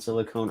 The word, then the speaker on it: silicone: some already three oh see there's an e at the end silicon and silicone are not spelled the same thank you Addie like cone like con head like